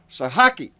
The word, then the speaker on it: Sahaki: And I don't mind it, but Sahaki.